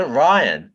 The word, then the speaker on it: Rian: How do you pronounce his Ryan? Name? Is it Ryan?